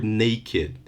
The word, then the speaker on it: naked: the rule doesn't apply the Ed will sound ID okay so the path the best example I think is the word naked because there is no verb